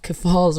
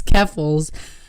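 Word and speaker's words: Keffals: to Amanda who said I was pronouncing uh Falls wrong it's keffels uh basically doubled his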